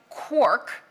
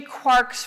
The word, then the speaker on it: quark: So in Finnegan's wake, it's clearly rhymes with Mark, but as Galman says, he needed it to rhyme with quark.